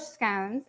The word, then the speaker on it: scone: So, English is going to say scone. Irish, English, you're gonna have scon. Scon. We Americans say scon.